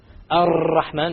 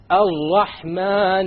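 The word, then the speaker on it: الرحمن: You cannot allow the tongue to roll. Ar-Rahman is a mistake. Ar-Rahman Ar-Rahim. No rolling.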